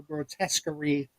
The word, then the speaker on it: grotesquerie: It's grotesque, and then it's ERIE at the end of grotesque. So grotesquerie is the way I think they're pronouncing it.